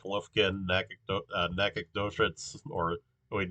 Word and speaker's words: Nacogdoches: Um, yeah, so I'd say, yeah, maybe this is like Lufkin, Nacogdoches, or wait, Nagadoches. That's how that's pronounced.